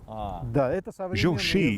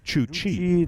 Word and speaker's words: Jochi: Jochi is a modern pronunciation of the name. In the 13th century, it may have sounded like Chuchi.